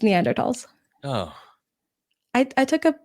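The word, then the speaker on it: Neanderthals: pronounce it it's no the H is silent it's neander TS oh I I took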